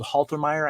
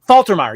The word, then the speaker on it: Faltermeyer: song soundtrack with uh harold haltermire i think is his name yeah um that wait say his name again isn't it faltermire faltermeyer yes thank you thank you thank